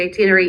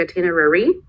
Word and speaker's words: itinerary: pronounce like itinery but generally it is supposed to be itinery even in the US like in in the official version I guess so maybe it is still pronounced like itinerary but the official version